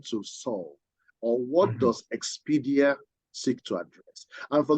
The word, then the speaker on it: Expedier: But yours is EXPEDIER, right? Okay. Yes. Okay. Actually, it's a French word.